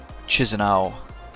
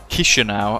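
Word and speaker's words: Chișinău: the St at um chis andow which doc has already pointed out I haven't pronounced correctly Kisha now apparently right let's have a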